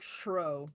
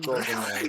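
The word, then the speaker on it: Schrödinger: Schrodinger. Schrodinger. Shro. It's like Shro. It's a Schrodinger. German name.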